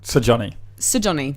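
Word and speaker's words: Sigurjón: Sir Johnny. Sir Johnny. That's how I found that it is pronounced. Is you pronounce all the letters.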